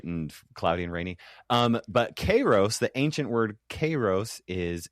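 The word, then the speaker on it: καιρός: The ancient Greek word is actually Kairos, but I didn't like that, and Kairos I didn't know. Cool. I didn't know how to pronounce it. But the Greek people in my YouTube comment section have pointed out very intensely that I say it wrong. Apparently, I say Kairos, which is current Greek for weather.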